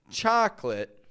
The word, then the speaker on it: chocolate: I want to consider is the word chocolate chocolate a chocolate bar chocolate milkshake chocolate ice cream